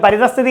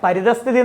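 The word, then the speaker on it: പരിതഃസ്ഥിതി: പരിതസ്ഥിതി നമ്മൾ പൊതുവെ പറയുമ്പോൾ ഇത് അവന്റെ പരിതസ്ഥിതി അതാണ്, അല്ലെങ്കിൽ അവിടുത്തെ സാഹചര്യം എന്ന അർത്ഥത്തിൽ പരിതസ്ഥിതി എന്ന പദം അല്ലെ? പരിതസ്ഥിതി നോക്കിയേ, ഇത് തെറ്റായ പദമാണ്. പരിതസ്ഥിതി എന്നാണ് അല്ലെ? അവിടെ വിസർഗത്തിന്റെ ഒരു ഉച്ചാരണം കൂടെ വരുന്നുണ്ട്.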